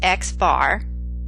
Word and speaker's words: x-bar: The sample arithmetic mean, pronounced x bar, is computed using sample data, and this is a statistic.